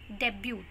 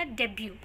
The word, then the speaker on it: debut: The last word is DEBUTE. The mispronunciation of this word is debut. यहाँ पे T silent होता है. Correct pronunciation क्या है इस word का? Debut.